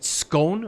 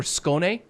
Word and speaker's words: Skåne: Is it Skåne or Skåne? Something like that. I know that A with the circle over it is pronounced like O, right? I think.